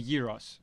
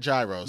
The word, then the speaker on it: gyros: this as well right so the the euros all right yeah so I like that you say it right well yeah yeah not gyros not guy right and I'll say it